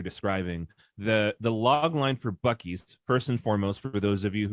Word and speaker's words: Buc-ee's: The log line for Buc-ee's, first and foremost, for those of you who are not from this part of the southern stroke Midwestern US, Buc-ee's is spelled BUCM-EES, Buc-ee's.